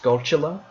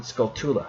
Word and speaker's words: Skulltula: And then we have, apparently it's supposed to be pronounced Skulltula, but I've always pronounced it Skulltula, because again, I never recognized the correlation between the U and the U.